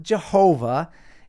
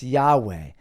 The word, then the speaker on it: Yahweh: he VAV he Yahweh it's not Jehovah it's Yahweh when God went to his